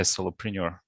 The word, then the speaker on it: solopreneur: This week we'll talk about being a solopreneur. I don't know if I pronounce it correctly. Do I? Solopreneur, like entrepreneur? Perfect.